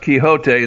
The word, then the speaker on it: Quixote: the word quixotic but it was actually pronounced quixote in spanish and don quixote was